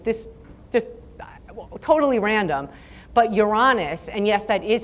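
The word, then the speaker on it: Uranus: date randomly I'm this just totally random but you're honest and yes that is how you pronounce it so I just want to make that clear on your honest is signaling the Sun and that favors future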